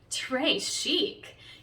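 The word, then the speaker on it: très chic: it like a bracelet trey chic you say it like tray chic and it means very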